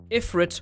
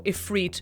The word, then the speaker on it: Ifrit: Ifrit or Ifrit are both right.